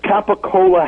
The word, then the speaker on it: capicola: It's capicola ham. What? What the? Yeah, but they pronounce it gabagool.